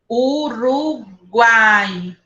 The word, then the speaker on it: Uruguai: Ó, Uá. o U quase não sai.